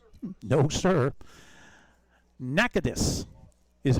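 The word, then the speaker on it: Natchitoches: In Louisiana, we've been saying Nachois. No, sir. Nakadus is how it's supposed to be pronounced.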